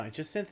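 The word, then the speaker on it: Jacinthe: No, Jasynth is correct. Jyn Synth would just be the English pronunciation of Jim.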